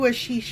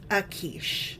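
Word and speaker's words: Achish: Do you remember who Ashish is? He was David's friend. That's in the He's a Philistine. David's friend. Yeah. So, first thing is I'm probably pronouncing his name wrong. It's probably Akish.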